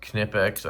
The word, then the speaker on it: Knipex: By the way, it is pronounced Knipex.